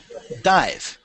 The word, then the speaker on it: dive: Dive. Okay. So there is an E right at the end of the word. You see that? So the pronunciation is the long I.